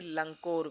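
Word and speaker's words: लङकोर: रात को ठहरे थे लंकोर में ठीक है याद रखना है अड़ंग क ख ग ग ड का यह पंचम वर्ण है जिसका उच्चारण नाक से करेंगे हम ठीक ठीक है तो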